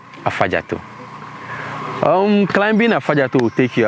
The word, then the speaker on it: Afadzato: So they decided to use F instead of V. So that's how come Afadzato became Afadzato.